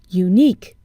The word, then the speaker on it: unique: on the beginning sound unique we see a u but we hear a consonant sound you so what do we